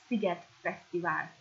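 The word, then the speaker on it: Fesztivál: In Hungarian it's a bit A at the end and not festival like in English. So Figet Festival.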